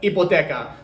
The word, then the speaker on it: hipoteca: The H at the beginning of a word is literally probably the only example I can think of a letter being in a Spanish word that doesn't have a sound. So, but hipoteca, to use it in a sentence, quiero solicitar una hipoteca.